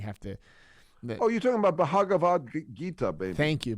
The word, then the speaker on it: Bhagavad Gita: You're talking about Bhagavad Gita, baby. Thank you. Bhagavad Gita? That's how you say it.